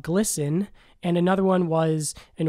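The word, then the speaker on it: GLSEN: says on their website glisten which is spelled GLS en and pronounced glisten is a leading national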